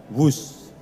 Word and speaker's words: Whoosh: operasi optimal sistem hebat sekali lagi w h o o s h tapi membacanya wus selain memiliki nama yang